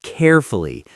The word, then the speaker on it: carefully: And what about the pronunciation of carefully? I always struggle with the ending. Here's the secret. Do not try to say fully too strong. Think of it like carefully. The oo sound almost disappears.